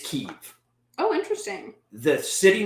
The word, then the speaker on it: Kyiv: So, the city name in Ukraine, pronounced by Ukrainians, is Kyiv. Oh, interesting. The city name pronounced by Russians is Kiev.